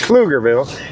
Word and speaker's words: Pflugerville: I'm in Pflugerville. It's Pflugerville. The P is silent, obviously. So it's Pflugerville.